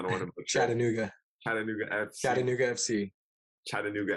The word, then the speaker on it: Chattanooga: I'm gonna let you pronounce the club because I don't want to butcher it. Chattanooga.